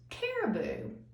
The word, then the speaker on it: caribou: is a special type of animal and it's pronounced caribou.